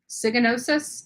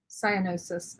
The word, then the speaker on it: cyanosis: Yeah, there's a lot of, people are cyganosis. Did I say it right? Cyganosis, Amy? Cyanosis. Okay, that makes cyanosis.